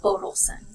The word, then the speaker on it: Bodelson: And my last name is Bodelson, so emphasis on the first syllable.